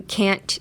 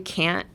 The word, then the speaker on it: can't: It is still you can't do it, but there's a difference between you can do it and you can't do it, even though both of the words you can't hear the T.